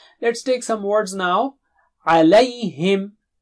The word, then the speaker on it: عَلَيْهِمْ: Alayhim, alayhim, alayhim, alayhim. You don't say alayhim, huh? Alay.